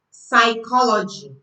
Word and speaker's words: psychology: P is silent when it comes before S in words. For example, psychology.